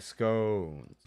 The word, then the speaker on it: scones: March here informs me that in educated circles, scones rhymes with bones, like scones. No, it just rhymes with bones, like just scones and bones, not scones like we've been saying.